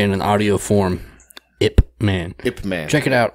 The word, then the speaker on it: Ip Man: It's really hard to tell somebody what that movie is because I feel like I under-pronunciate the P. Ip Man. Ip Man. It almost looks like IP Man. I used to call it IP Man when I was an ignorant piece of shit.